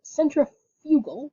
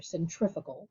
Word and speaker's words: centrifugal: So centrifugal or centrifugal, depending on where you would like to pronounce it from, that's with an F, right?